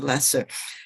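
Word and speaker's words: Loesser: write the music but frank lester who pronounced his last name as a lesser he wrote lyrics and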